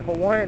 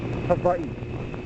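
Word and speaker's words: Hawaiʻi: Hawaii is act in Hawaiian it's actually pronounced AI the W is pronounced like a V but everybody just calls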